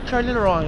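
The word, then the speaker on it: Charleroi: Ano yung ano yung kwan ano yung pronunciation? Charlie Roy Charlie Roy Charlie Roy Charlie Roy hindi Charl tingnan mo oh.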